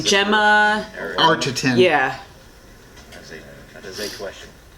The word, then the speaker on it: Arterton: We were looking for Gemma Atherton. Gemma Arterton.